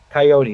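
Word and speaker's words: Kayode: He is uh the Coyote or Coyote.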